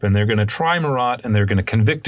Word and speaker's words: Marat: I'm going to use the word Marat just because it's a little bit easier for, I think, English speakers to understand, but in French it's pronounced Marat.